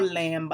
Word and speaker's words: lamb: Consonant B ça nan mot lamb lan li silence. Ou pas dire lamb, ou dire lamb. OK? Li silence.